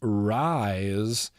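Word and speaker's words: Rhys: We got Rise, R-H-Y-S. I believe the name is pronounced Rise.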